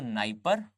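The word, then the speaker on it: Dnieper: Clear, आपको एक जो है वो नाइपर और एक जो है वो नाइस्टर, ये दिखेंगे। याद रखें इनकी स्पेलिंग में डी आता है विच इज साइलेंट।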